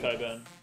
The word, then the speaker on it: Cockburn: do you pronounce cockburn Coburn mate which is funny because it says yeah cockburn but it's actually pronounced Coburn it's a bit silly